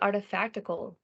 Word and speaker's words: Artifactical: So why Artifactical? Why artifactical? Because it rhymes with practical.